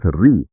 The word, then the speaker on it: ऋ: क्योंकि कुछ वर्ण जैसे री, इसका उच्चारण समय के साथ री जैसा हो गया, या कुछ संयुक्त व्यंजनों को स्वतंत्र ध्वनि नहीं माना जाता।